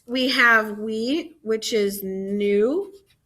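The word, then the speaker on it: nous: have we which is new new not new it's pronounced like new like i'm buying new shoes today so new then we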